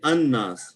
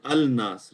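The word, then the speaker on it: الناس: So we say an-nas. We don't say al-nas, right? Minanas. So this noon is what kind of letter? Kamari or Shamsi? Shamsi. Because in the Shamsi letters, you do not pronounce the al.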